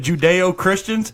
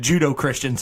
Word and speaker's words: Judeo-Christian: the greatest we're not he texted me o mispronunciation I've ever heard bender say instead of judeo-christians he said judo Christians three times you go it's judo Christian that's